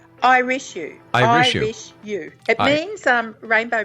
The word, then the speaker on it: Irishu: Irish-U.